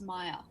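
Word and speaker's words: Maiar: my art my art how do you say okay at the end it's Maya Maya yeah all right Maya so Maya are Divine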